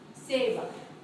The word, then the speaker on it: ceiba: Ceiba, the ceiba tree.